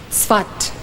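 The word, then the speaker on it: Safed: of Israel he arrived in the city of Swat you might as well write this down then it is spelled s-a-f-e-d but it's pronounced svat he arrived in the city of spot in 1570.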